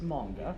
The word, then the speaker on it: manga: From you, a person who knows about manga and anime, How do you respond? Okay, first of all, it's pronounced manga.